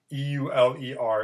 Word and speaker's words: Euler: this guy's name hidden in the link here e-u-l-e-r it's pronounced euler it's i believe german i probably